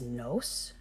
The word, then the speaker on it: nos: pronoun as in Spanish the we pronoun is noce like nosotros in Spanish if you're